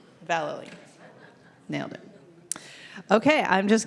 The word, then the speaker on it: Vallely: Valerie.